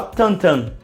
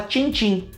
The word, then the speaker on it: Tintin: o nome dele então nem fala tantan a gente fala Tintim que é como tá escrito então no original se escreve Tim Tim e se fala tam tam mas no Brasil se escreve e se fala tim-tim vocês podem me perguntar